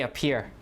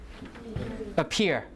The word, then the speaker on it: appear: you say appear what do you say appear appear right so the stress falls on the second syllable what about pepper you